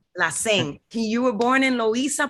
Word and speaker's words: Lacén: a special guest today with an accent on the e la sing you were born in